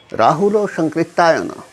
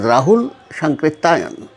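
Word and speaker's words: Rahul Sankrityayan: Today, I will speak of Rahulo Shankritayana. In modern Indian languages, it is normally pronounced as Rahul Shankritayana, a man who cannot be described in a single lecture, not even a series of lectures.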